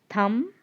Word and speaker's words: thumb: First one, comb, tomb, thumb, dumb. The sound B is silent.